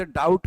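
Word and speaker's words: doubt: वही संबंध डाउट का बी से है, तो यहाँ बी आप नहीं बोलते हैं, ये डाउट बोलते हैं, बी साइलेंट।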